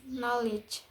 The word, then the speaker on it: knowledge: K is silent in kn at the beginning of a word. For example, knee becomes knee, know becomes know, and knowledge becomes knowledge. The next letters I is